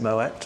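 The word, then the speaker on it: Moët: yeah so is it I didn't realize that the T was pronounced my bad for yeah is it Moet or Mo so is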